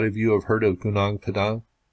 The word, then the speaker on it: Gunung Padang: you have heard of Gunung Padang, and that is how I'll pronounce it this time around.